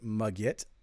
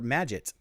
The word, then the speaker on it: Magit: So it makes sense to pronounce Magit like magic, while taking into account that C and T do not sound the same.